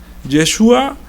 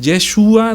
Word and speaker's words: Yeshua: Porque ellos Yeshua no la pueden pronunciar como la ñ. Entonces para ellos era más fácil decir Jesús.